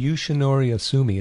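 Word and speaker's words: Yoshinori Ohsumi: And it seems like everybody's interest has been rekindled by Yoshinori how do you pronounce it? Yoshinori Asumi.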